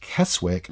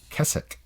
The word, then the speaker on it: Keswick: like WIC but like the town looks like keswick it's actually kecak yeah and as a